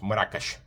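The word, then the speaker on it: مراكش: Even though Morakash is a city of Al-Magar and uh is in Arabic is pronounced Morakash, but it became Morocco.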